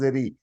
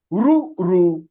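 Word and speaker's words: ऋ: are A, I, U, Ru, री नहीं है. हाँ, आप हिंदी में इसे री बोलेंगे. In Hindi it is pronounced as री. Many Sanskrit teachers are also pronouncing as री. It is wrong.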